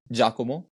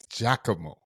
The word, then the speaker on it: Giacomo: So yeah, the correct pronunciation is Giacomo, Giacomo.